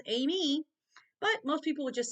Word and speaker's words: Amy: growing up was aim it's two syllables Amy but most people would